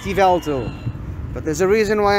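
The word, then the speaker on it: Yveltal: god of death and yes i know it's pronounced ivalto but there's a reason why i'm saying yabotal as opposed to ivalto which is what the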